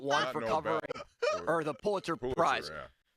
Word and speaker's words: Pulitzer: Then he got corrected and then mispronounced Pulitzer. It's the Pulitzer Prize.